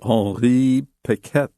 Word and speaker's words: Henri Piquet: How did you pronounce this dude's name? Piquet? The Frenchman? Yeah. I said Henri Piquet.